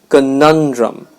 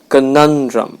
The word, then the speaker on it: conundrum: drum a nun drum the stress is on the second syllable which means we'll put emphasis on that syllable conundrum conundrum it means a problem